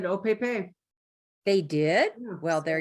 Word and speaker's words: Opepe: Has anyone told us the correct pronunciation for that yet? I asked at Silver Thimble and they said Opepe.